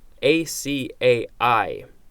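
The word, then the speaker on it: açaí: maps next we have a CAI acai that's how it's pronounced it the sea can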